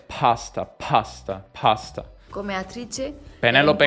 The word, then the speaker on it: pasta: Lo stesso per pasta è pasta.